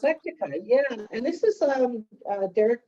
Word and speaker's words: Plectica: Is that how you pronounce it? Plectica, yeah.